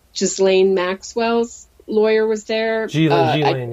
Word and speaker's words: Ghislaine: Ghislaine, yes. Ghislaine. S is silent.